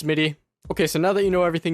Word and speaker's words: Smitty: It's pronounced Smitty.